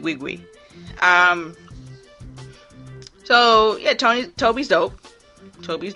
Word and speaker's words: Nwigwe: Toby, yeah, so his name is spelled last name is Nwigwe. So I think he does pronounce it Wigwe.